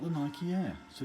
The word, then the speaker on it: Nike: Do you say Nike or do you say Nike? I kind of use the Latin pronunciation. So Nike, as in the goddess of running, of speed or whatever it was.